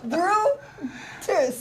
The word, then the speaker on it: Brutus: Oh, brew this grain. Brew this grain. Brutus.